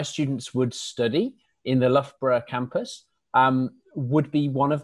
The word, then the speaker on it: Loughborough: to save time and Loughborough is the easiest way of pronouncing it we have had many different pronunciations such as Luger burger and Lao where Al and Loughborough but I think the easiest way of pronouncing it is Loughborough soul of breath that's perhaps the easiest way of pronouncing the university